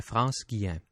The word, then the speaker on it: France Guillain: France I'm going to I'm going to pronounce her name in the French way if that's all right because I'm a little bit more comfortable.